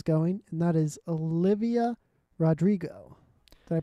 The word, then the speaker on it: Rodrigo: where career is going and that is olivia rodrigo did i pronounce that right i yeah rodrigo yeah yeah awesome so uh and with her